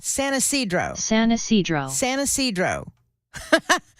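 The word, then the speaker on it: San Ysidro: San Isidro. San Isidro. San Isidro. San Isidro.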